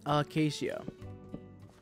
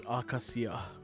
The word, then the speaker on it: Acacia: the place Acacia um acacia that sounds dumb akashia is better Japanese is akasia English is Acacia um oh God you